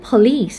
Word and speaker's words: police: Even though police and idea, they are all noun, but we stress at the second syllable.